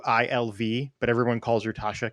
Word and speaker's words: Iggwilv: Her actual name I can't pronounce. It's like Igwilv. It's Iggwilv, but everyone calls her Tasha because it's so much easier.